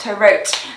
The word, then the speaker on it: To Rot: This week's Saint of the Week is Blessed Peter Tarot, which is spelt Tarot, but it's pronounced Tarot, okay?